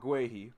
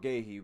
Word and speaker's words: Guéhi: The issue is if we sign if we sign Mark Guy or Mark Mark Ghee depending on how people want to pronounce him, the issue that